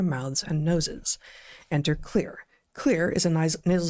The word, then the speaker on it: Xlear: It's Xlear X L E A R, but pronounced "clear," even though it's got an X right there at the top and no, no C we wash our hands